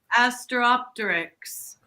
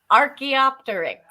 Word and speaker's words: Archaeopteryx: Asteropteryx. I'm not pronouncing it correctly.